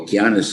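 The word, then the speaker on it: Okeanos: probably a wrong uh no keanus is the right uh pronunciation but when we see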